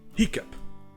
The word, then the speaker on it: hiccough: mot peut s'écrire comme ça et toujours se prononcer icap et moi je croyais que c'était cette orthographe